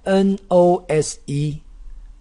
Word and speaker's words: nose: 是脸上的痣，脸上的痣 more M O L E more 痣。再来 N O S E N O S E O 加 S 加 E，这个 O 发 O 的长音，E 不发音，念 nose n o no nose 鼻子。Nose 鼻子，nose